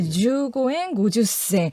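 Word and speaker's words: 十五円五十銭: 주고엔 고주센. 네. 어렵네요. 네, 이렇게 이제 실제 발음을 제가 표기했음에도 불구하고 네, 주고엔 고주센 이게 학살 대상이 이제 되는 당시 그 계셨으면 학살 대상이 아니 이거 그쵸, 보고 네.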